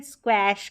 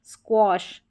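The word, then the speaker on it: squash: ठीक है, स्क्वैश करके, स्क्वॉश, स्क्वॉश ऐसे पढ़ेंगे, स्क्वॉश। यहाँ पर ए का अ उच्चारण हो रहा है, स्क्वॉश, वॉश नहीं होता, वैसे लिखा गया है। तो यहाँ पर इसको पढ़ लें, आप देख लें, स्क्वॉश, ऑश करके उच्चारण आ जाएगा, ऑश। ये स्क्वॉश का मतलब होता है कुचलना, स्क्वैश करना, स्क्वैश या स्क्वॉश दोनों तरीके से आप प्रोनाउंस कर दे तो सही है।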